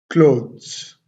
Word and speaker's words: clothes: Look at the sound I have separated. K, L, O, W, T, H, S. So we will pronounce this word clothes. Clothes. Clothes.